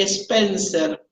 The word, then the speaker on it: Spencer: Quienes opinaban de una manera un poco distinta se denominaban Sailor y Spencer. Sailor se escribe S-A-Y-L-O-R, y separado, otro apellido, Spencer se escribe S-P, Spencer, S-P-E-N-C de casa R, Sailor y Spencer.